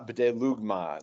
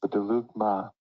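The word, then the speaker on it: βδέλυγμα: Ta b'delugma, the abomination, BDAG says something that is totally defiling, an abomination, a pollutant.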